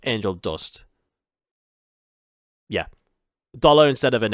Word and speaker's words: Angel Du$t: should dare point out like dust is spelled d-u and the S is a dollar sign and T so it's angel dust yeah dollar instead of